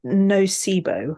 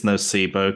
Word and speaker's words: Nocebo: name of this film is it no sibo I think it's nocebo because I think it's uh from the family of words that sound like Placebo so it's very technical